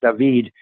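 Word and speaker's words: דוד: and I want to go his name is pronounced dahveed in Hebrew and I want to go now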